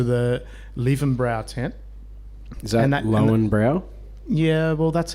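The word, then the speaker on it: Löwenbräu: Is that Lowenbrow? Yeah, well, that's how they told me to pronounce it. Lievenbrouw.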